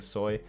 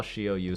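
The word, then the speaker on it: Shi Oh Yu: nidalee start and holding soy a lot of people call shioyu Soy just a short I did not know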